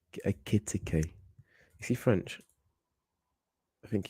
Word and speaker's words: Ekitike: Etikke or Etikke. Sorry if I mispronounce his name. How do you say it? Ekitike. Ekitike.